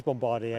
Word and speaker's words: Bombardier: I think it must be called Bombardier because it is Bombardier, isn't it?